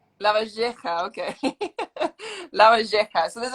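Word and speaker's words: Lavalleja: You've got to give me a proper class on how to pronounce La Valleja. La Valleja. La Valleja, okay.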